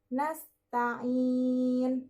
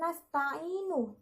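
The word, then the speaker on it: نستعين: di akhir ayat contohnya nasta'in nah Jika dilihat next Taemin Nah itu diwakafkan Nyonya itu dibaca sukun ya jadi berhenti di nah Kangin Bukan nasta'inu tapi nastangin itu contoh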